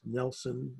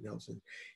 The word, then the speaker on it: Nielsen: 1870s uh nelson brown it's spelled nielsen it's pronounced nelson i should be pronouncing it nelson he's an heir to